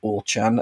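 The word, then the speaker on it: Auchan: The supermarket um in question, I don't know how you pronounce it in French, but in English you would say Orchan, A U C H A N.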